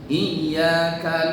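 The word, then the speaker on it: إياك: Iya-nya enggak boleh panjang. Iyyaka na'budu wa iyyaka nasta'in. Itu mah tobi jangan terlalu panjang. 1 ketukan saja.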